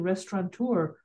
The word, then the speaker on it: restaurateur: He said, thank you for properly pronouncing restaurateur without an N.